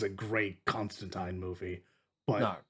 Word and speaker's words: Constantine: his name it is Constantine rhymes with time yeah it is a